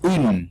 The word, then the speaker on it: une: Entonces empezamos con el artículo femenino singular, sí, que es un, ¿sí? UN, se pronuncia UN. Se escribe UNE, se pronuncia UN, un.